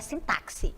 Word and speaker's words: sintaxe: é sintaxe não é sintaxe é simpasse OK escrita com x pronunciado sintaxe Então nós vamos trabalhar